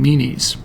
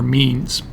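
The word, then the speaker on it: Menes: Egypt, a man named Meis or Means. I've heard both pronunciations who given credit for united both upper Egypt and lower Egypt.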